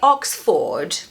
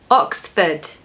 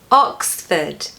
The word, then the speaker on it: Oxford: Don't pronounce that R in the second syllable, just replace those letters with a schwa, Oxford is a very